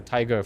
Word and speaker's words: TIG: And the nice thing is, it's like the tiger for cybersecurity. TIG also rhymes with tiger.